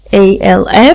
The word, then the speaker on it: half: طيب house منزل، هنا o وهنا e، quarter حرف ال a، quarter r في الاخر، half alf في كلمة half ال مش بنطقها، tennis هنعمل هنا n وهنا s، lunch L-U-N-C-H.